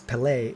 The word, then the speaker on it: Pele: wrong i'm so sorry but it's pele pele is the football player with an accent on the second e um although also a